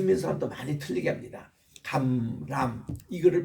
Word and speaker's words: 감람: 감람 이거를 발음 못해요. 그냥 감란산 란 이렇게 니은으로 발음하지 감람 이렇게 발음을 잘 못해요.